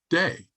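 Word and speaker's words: DEI: would anybody pronounce that it's pronounced day as in God and that is not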